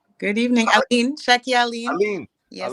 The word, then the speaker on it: Allyene: Allyene. Yes. Allyene, okay, I said it right the first time.